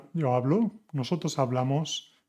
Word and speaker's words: hablo: The underlying part is the stress syllable. It's not «habló» o «hablás» o «hablá», es «hablo, hablas, habla, hablamos, habláis, hablan».